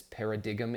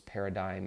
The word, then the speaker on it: paradigm: don't understand what this para dig'em is and you might laugh at that because the word is paradigm and there's a G in there and there are reasons